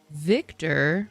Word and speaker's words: Wiktor: The same way that Wiktor pronounces his name with a V instead of a W sound.